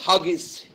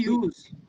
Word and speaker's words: Hughes: Huggies is an eminent ocean and cyber surfer in Malibu, USA. Through K.Z. Huggies' personal consulting practice, Sir, his name is K.C. Hughes.